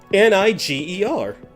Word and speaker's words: Niger: N I g E R. Check your map. And no, that's actually how it's pronounced.